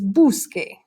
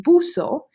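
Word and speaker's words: busque: you drop the O if you just add the e then it's gonna be pronounced boo so but you don't want it to be boo so because the rivers buscar and in order to get the curse ound you need to change it to qu so it's qu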